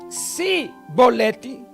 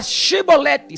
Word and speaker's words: Chibolete: Então todos aqueles que passavam ali e falavam Sibolete com S, era Shibolete, CH, Shibolete. O som era CH, Shibolete, e não era com S, SI, Sibolete. Então os efraimitas falavam Sibolete, mas não, era Shibolete.